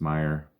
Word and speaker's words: Meyer: Jesse Meyer Meyer Meyer it's not mayor it's Meyer please say it right for